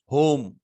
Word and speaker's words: home: जैसे HOME, अब इसका प्रोनाउंसिएशन होता है होम। यहाँ पे ई साइलेंट है। क्यों साइलेंट है? क्योंकि जब दो कॉन्सोनेंट सॉरी दो वॉवेल आ रहे हैं एक ही में, ठीक है, तो यानी पहला वाला लॉन्ग साउंड देगा, हो, ओ, ए, ई, आई, ओ का साउंड ओ आ रहा है, तो पहला लॉन्ग होगा, दूसरा साइलेंट हो जाता है।